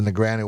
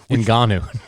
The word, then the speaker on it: Ngannou: To the chagrin, as the Nagano one. Ngannou.